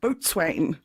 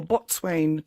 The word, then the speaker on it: Boatswain: So the dog that was refused residence at Trinity College was called Boatswain, or Botswain, depending on your pronunciation.